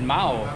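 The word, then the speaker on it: Mahou: i've got uh mao then he calls it mao in spanish you don't pronounce that age there i'm going to try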